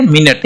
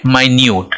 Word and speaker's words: minute: इसको क्या बोलेंगे, मिनट।